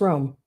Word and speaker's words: Romy: with Susan Romy Susan is your name pronounced Romy or is it just Rome I just thought about that I've always called you Susan Romy hopefully that's correct just ice you got it right okay okay roll me